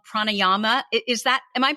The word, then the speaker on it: pranayama: and end every session with what they called pranayama is that am i pronouncing that right yes yeah that's perfect yeah